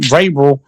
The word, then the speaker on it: Vrabel: Vrabel.